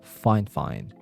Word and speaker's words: FIFINE: Again, it's pronounced as FIFINE, not FIFINE.